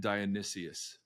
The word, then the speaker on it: Dionysus: talk about the Lord's Supper oh um and Dionysus that's how you say it so uh we